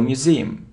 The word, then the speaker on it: museum: wickle wickle wickle look it isn't Museum no Museum so you see that the stress is on the second syllable museum museum it isn't V